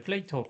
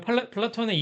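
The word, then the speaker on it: Plato: 근데 영어로 하면 N이 또 빠지고 그렇 그렇기 때문에 이제 플레이토 영어 발음으로는 뭐 미국식 영어 발음으로는 플레이토 뭐 이렇게 부르는데 어 이런 플라톤의 이름을 따 가지고 플레이토니즘이라고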